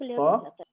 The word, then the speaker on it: طا: Make sure when you pronounce this طا to not pronounce that, okay? It has to be clearly a طا, not a ta.